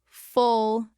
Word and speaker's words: full: Now full and full. Full has a short u quick and closed. Fool has a long U, more rounded.